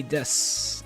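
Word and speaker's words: です: or suit right they they'll say Des they won't say Des they say Des but technically the word Desu you know it's it's technically just supposed to be pronounced the word Desu but you know I don't know why it's just uh that's just how the language works I guess though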